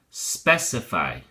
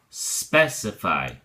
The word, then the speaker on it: specify: specifically and we also have the verb form specify notice that the x and changes to the first syllable specify whoops how about that specify all right so